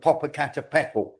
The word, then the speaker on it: Popocatépetl: There was one in Mexico called Popocatépetl. I've pronounced that right.